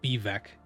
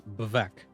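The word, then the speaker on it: Vivec: It's not Bivek. It's Bavek. It's Fla.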